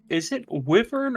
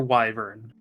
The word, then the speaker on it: wyvern: Is it wyvern or wyvern?